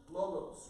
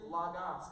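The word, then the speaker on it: λόγος: the word in English, logos, right? In the Greek, it's actually logos, because it's pronounced more like an A.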